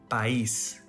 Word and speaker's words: país: For example, país. This word ends with an S letter. We learned that if a word ends with a vowel or N S letter, the stress syllable is next to the last. But this one doesn't follow the rules, so it has an accent mark to tell us which syllable is the louder one.